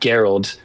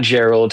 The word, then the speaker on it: Geralt: There's a great like a tech there named Geralt. Uh not Gerald, Geralt, and it's spelled like gear with an LD on the end.